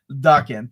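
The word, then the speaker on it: Daken: Father, Dark Wolverine Saga, Duckan Saga, and Material from Wolverine: The Road to Hell. The book has $1328 pages and retails for $150, I believe it's pronounced Dakan.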